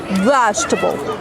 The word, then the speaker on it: vegetable: will be vegetable vegetable don't pronounce e that comes after G don't say vegetable no it's vegetable vegetable number three amount don't